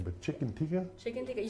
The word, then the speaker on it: chicken tikka: Chicken tikka.